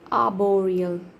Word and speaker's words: arboreal: In British, R is silent. Arboreal.